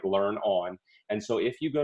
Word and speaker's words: learnon: And yes, there is risk of people pronouncing it learnin', but we thought that we would we'd go with the risk, and we like the idea of it being something simple like learn on.